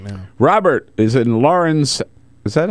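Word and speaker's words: Laurens: Robert is in Lawrence. Is that how you pronounce it? Come on, Peter, South Carolina. Lawrence, absolutely.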